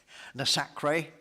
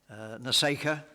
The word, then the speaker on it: NASACRE: Incidentally, NASICA is the name is pronounced in various ways according to people's local dialect. Nasacre is one I've heard. Naseka is another one I've heard. Yes.